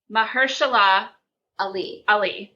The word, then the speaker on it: Mahershala Ali: Mahershala Ali. Oh, okay. Yep. I know who you mean. I know that I mispronounced That is a good one.